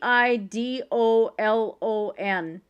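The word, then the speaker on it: Eidolon: Yeah, I suppose considering that's kind of close to how my last name is spelled with the ei. That little German flip in there.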